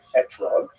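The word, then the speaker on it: אתרוג: We all know that the correct fruit to bring is an etrog, or an esrog in the Ashkenazi pronunciation, but it doesn't say so in the written Torah.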